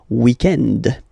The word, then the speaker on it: weekend: So if we're talking about the weekend, okay, but then pronounce it the French way, weekend.